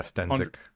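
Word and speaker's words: Stenzek: Yeah, Stenzik.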